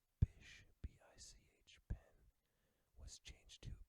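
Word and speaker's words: Bich: In the 40s, it says Bish, B-I-C-H, pen was changed to Bic, B-I-C, for fear that Americans would pronounce it bitch.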